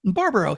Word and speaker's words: Barbaro: Barbaro, he only says it every single episode.